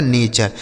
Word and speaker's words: nature: TURE जो लिखा होता है ना दोस्तों, इसको हम चर पढ़ते हैं, ठीक है।